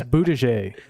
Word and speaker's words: Buttigieg: Moutier. That's not how you say it. Buttigieg. People call him Buttigieg? Booty gay because he's almost, that's like No, I'm not, I know that, but it's Buttigieg.